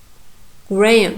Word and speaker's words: Graham: And now Graham. Graham. You see? Here, you can see here has sound, but it's not pronounced. It reduces to schwa sound again.